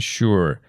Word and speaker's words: sure: It's sugar and sure. Here S sounds like sh like in shower.